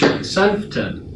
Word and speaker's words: Sentfen: Hi everybody, I'm Alex Hamilton here with Stavers Radio, here interviewing Sentfen. You got it? Yeah. Awesome, I pronounced it right.